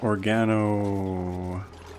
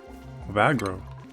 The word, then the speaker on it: Ovagro: Okay, we're going to plant organo node. Organo. No, it's ova ovagro. I've been pronouncing it wrong all this time.